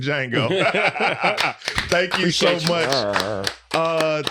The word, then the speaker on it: Django: St Dennis medical also the t is silent like the D and Django thank you so much